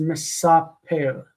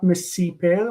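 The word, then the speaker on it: מְסַפֵּר: So the participle is misaper, not misiper, misaper. The a is actually the marking vowel of the Piel, which is funny that we name it Piel because of past tense.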